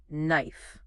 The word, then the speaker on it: knife: same goes for knife that k at the beginning totally silent just knife why do you think